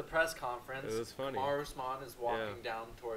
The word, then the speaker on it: Kamaru Usman: Kamaru Usman.